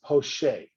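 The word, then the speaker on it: poché: the drawing that is referred to as poche poche is a french term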